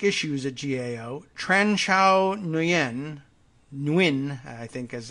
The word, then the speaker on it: Nguyen: I think it's actually pronounced without the N at all, Win, but I don't know. I want that N in there somehow.